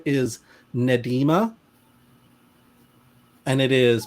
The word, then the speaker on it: Nnedi: It is pronounced, her full name is Nedima, and it is pronounced Nedi. So Nedi? N Cool. Neh Dee is how she has written it out.